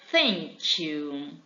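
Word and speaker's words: thank you: então a primeira de todas elas é 100 sentiu que significa obrigado ou obrigada tá vamos prestar atenção na pronúncia nessa palavra sentiu em nossa linha que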